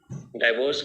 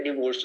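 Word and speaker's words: divorce: दोनों की बात बोलेंगे ना, एक नहीं बोलेगा ये, तो दोनों क्या करवाएंगे, अपना डाइवोर्स करवाएंगे। अच्छा, ये प्रोनाउंसिएशन में डाइवोर्स होता है या डिवोर्स होता है? इट्स डिवोर्स, नॉट डाइवोर्स।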